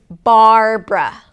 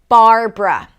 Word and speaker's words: Barbara: The next name is Barbara. Barbara. This name has two syllables.